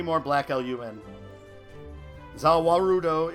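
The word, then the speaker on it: ザ・ワールド: Zawarudo is just how the Japanese pronounce the world, which is Dio's stand.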